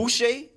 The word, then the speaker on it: Boucher: Boucher.